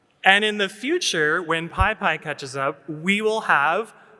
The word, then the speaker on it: PyPI: Pi. P. Not peas. I. PyPI. And we have a little bonus. Python 3.14 is coming out soon, so this will be Python Pi. And in the future, when PyPI catches up, we will have PyPI.